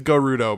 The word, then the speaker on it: Gerudo: Carla Carla bizarre Naruto is it Giroud or Gerudo I think it's Gerudo because the Japanese language acha point yeah I've